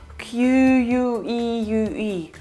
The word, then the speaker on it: queue: what is this weird word that you spell q u e u e u that's pronounced as queue mostly used in british english